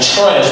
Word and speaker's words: trash: Why I said trash? Because when tr is there, you pronounce it differently. It becomes like ch become like ch.